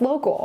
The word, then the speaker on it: lo.kc.al: Tell us the story of local, and I love how on your site you are like, this is pronounced local.